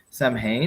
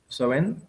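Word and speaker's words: Samhain: likely fell upon was the festival was called Sam ha which is well I say sam ha but apparently you pronounce it so in soen so soen was celebrated on this first day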